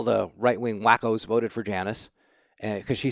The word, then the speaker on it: Janice: And by the way, that's pronounced Janice.